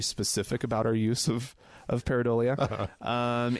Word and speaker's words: pareidolia: The word pareidolia, which I struggled with the pronunciation of.